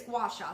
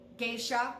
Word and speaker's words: gua sha: It is 2 words, gua and sha, and that's how you say it, is gua sha. So it's not geisha.